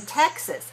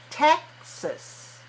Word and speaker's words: Texas: in Texas okay now watch me when I say this word Texas Texas okay so second syllable is just like Dallas us you see very relaxed but not ah not takes us not in English all right so Texas